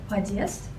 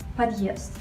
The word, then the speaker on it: подъезд: So if there was no such a letter, you would read it as подъезд, but when there's the hard sign, it is подъезд. So you can compare подъезд, the wrong pronunciation, and подъезд, the correct pronunciation.